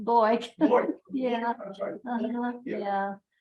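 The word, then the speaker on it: Bueck: they were always pronounced Boyk. Yeah, it was always pronounced Boyk.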